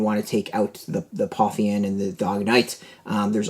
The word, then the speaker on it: Pantheon: So it is the Pantheon, instead of not the Parthenon, but Pantheon.